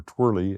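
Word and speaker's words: TWERLE: and it was called the Tropical Wind Energetics Reference Level Experiment, or TWIRL, T-W-E-R-L-E, or twirly, as David would pronounce it, depending where you're at.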